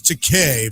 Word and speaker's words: Takei: And that's how you always know it's George Takei, because it rhymes with William Shatner's toupee.